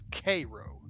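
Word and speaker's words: Cairo: spelled c a i r o but is pronounced kro don't ask me why all right Andy I'll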